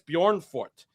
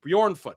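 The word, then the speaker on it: Bjornfot: The Jay is silent, Drew.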